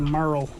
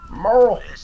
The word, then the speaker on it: Merle: Going back to Merle. Spelled like Hurl. Merle. Hurl.